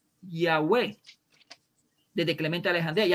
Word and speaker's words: Yahveh: evidencia antes de teodoro que la pronunciación es ya way de clemente alejan de